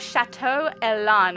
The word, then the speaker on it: Chateau Elan: And then we also have Chateau Elan I believe is the pronunciation for that one.